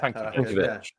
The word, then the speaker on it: Tankiewicz: Tankiewicz. Yeah. Because it's Tanky, but then the E kind of becomes an sound. So Tankiewicz.